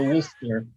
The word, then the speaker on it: Worcester: W O R C E S T E R and it's somehow two syllables. Yeah, they're going to Worster uh the second largest city in Massachusetts and